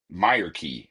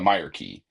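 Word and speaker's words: Myreque: He wants you to deliver some weapons to the Meer key is how we're pronouncing it. I've learned the Meer key.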